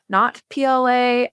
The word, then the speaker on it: Notpla: I have get gotten, have you heard of Natpla, not PLA? I have heard so many pronunciations of NAPLA.